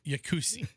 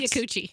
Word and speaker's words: Yakuchi: Yeah, every session, everybody's like, All right, he has to pronounce it like Yakusi. No, it's Yakuchi. It's Yeah, Yakuchi. It's a double C.